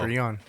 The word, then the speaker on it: Patreon: and syllable of Patreon Acolyte. is pay. So Patreon. not Patreon. pay.